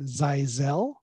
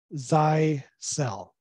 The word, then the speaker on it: Zyxel: the regions there per pronounce the name zizel um and I have heard some regions pronounced zeisel so the official from the founders and the way we try to pronounce it here in North America zai cell hope that helps um